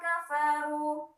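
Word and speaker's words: كَفَرُوا: Nah, jadi cara membacanya harus ada udara yang keluar dari k. Jadi bukan k, lam yakunil bukan, tapi lam yakunil ladzina kafaru. Ya.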